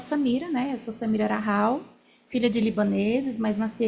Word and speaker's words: Rahal: Escreve R-A-2-H-A-L, mas fala Rahal. Mas normalmente o pessoal fala Raal. Você falou Haral, né? Você só trocou.